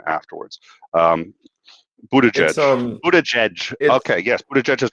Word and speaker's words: Buttigieg: Real quick in the chat, Buttigieg. Buttigieg. That's how you say it.